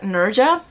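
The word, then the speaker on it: Nezha: so I called him Nessa his name is not necessary if I were to pronounce every letter except the H but it's like Nerja synergic okay the first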